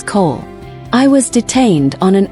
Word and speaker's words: Cole: He deliberately mispronounced the name, making it sound like Kol. Elias ignored the slight, his posture a study and calm. My apologies, your honor. The name is Cole.